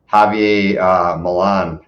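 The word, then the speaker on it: Javier Milei: Javier Milan, I believe is the correct pronunciation of his name.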